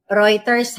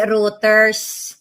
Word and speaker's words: Reuters: Reuters ha. Hindi routers.